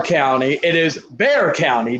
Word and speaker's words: Bexar: but it is not bexar county it is bear county the x is silent so an illiterate person